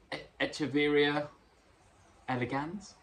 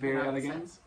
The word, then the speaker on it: Echeveria elegans: called a Echeveria elegans. That's how I would pronounce it. Echeveria elegans. I often, when I say Echeveria, I often get people correcting me, but that's how I.